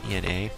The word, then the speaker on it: Ena: comes out of nowhere keep pronouncing her name wrong it's Ina but she's in the